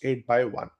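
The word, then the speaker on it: 8×1: This particular RAM array is organized in a manner called abbreviated form 8 + 1 pronounced 8 by 1.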